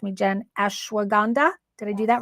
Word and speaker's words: ashwagandha: root I always forget don't know how to pronounce this correct me Jen ashwagandha did I do that right oh I did